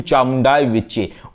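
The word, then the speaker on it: चामुण्डायै विच्चे: लीजिए नवार्ण मंत्र का सही उच्चारण है ओम ऐंग श्रीम क्लीम चामुंडायै विच्चे ॐ ऐंग श्रीम क्लिम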